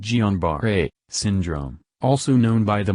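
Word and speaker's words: Guillain-Barré: cause polyneuropathy let's consider guillain-barre pronounced gianbar-a syndrome also known by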